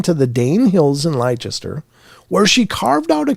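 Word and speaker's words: Leicester: in Lester I I I think that's pronounced Lester sorry if it's not I mean they got that sauce wor sure so I don't know how to pronounce this I think it's liester though uh she is sometimes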